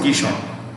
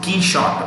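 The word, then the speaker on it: Quichotte: kia orti q oh sorry key shot it's pronounced key shot q u i p q u i c h o t e q u i c h o t e short it's pronounced key shot it key shot if you have read don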